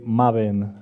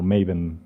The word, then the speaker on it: Maven: not gravel feel free feel free to correct me if I say Marvin along the along the way talk and I will try to say maven also so I've been